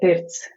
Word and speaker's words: pirts: Um yes, we call it the pirts here in Latvia. How do you spell that?